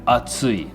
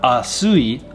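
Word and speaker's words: 暑い: Atsui. Soto wa atsui. It is hot outside. Atsui. This is not asui, but atsui. Tsu sound, not su sound.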